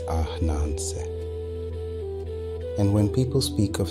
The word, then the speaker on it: Ananse: In the Akan tongue, the everyday word for spider is often written as Ananse, and we will say it softly as Ananse.